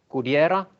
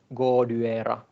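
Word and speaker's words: Goodyera: So for example, this orchid Goudiera can be pronounced Goudiera or Goduera, which would be the classical Latin way to pronounce it.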